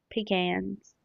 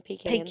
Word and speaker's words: pecan: Made fun of it for saying pecans. Not like how do you say pecans? Peans. Like it's pecan. You don't It's not a pecan. You're not peeing in a can.